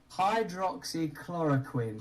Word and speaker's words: hydroxychloroquine: You know, think of the guy from Dexter. Quinn. Chlorine. Hydroxychloroquine.